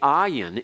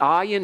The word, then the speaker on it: ayin: There are certain situations in which the ayin actually is pronounced almost like a G sound. When you talk about the 2 cities, Sodom and Gomorrah, Gomorrah in Hebrew begins with an ayin.